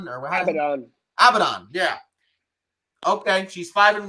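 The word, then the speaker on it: Abadon: how do you say your name or whatever abaddon yeah okay she's five and one don't care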